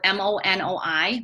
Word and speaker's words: monoi: you're styling it has monoi oil in it it's spelled mo Noi monoi oil and that brings lustre to dry